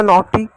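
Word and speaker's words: naughty: जी एच से silent होगा। टी का ट लिख दिए। टी भी खत्म हुआ। अब वाई को इ की मात्रा लिखेंगे। हो गया नॉटी।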